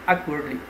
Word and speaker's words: awkwardly: So the stress would be on the first syllable and it's adverb, awkwardly.